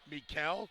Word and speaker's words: Michelle: New York City's up her actual name is Mikel but it's spelled like Michelle so she just gets used to it but it's Mel